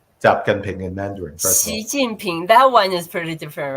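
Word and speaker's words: 习近平: Xi Jinping.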